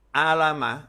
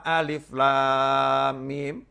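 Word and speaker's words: الم: akan membacanya yang pertama alama atau alima. Yang kedua alam nasroh. Tidak akan kita baca yang pertama alif, lam, mim. Dan tidak akan kita baca yang kedua alif, lam, mim, nasroh. Nggak akan.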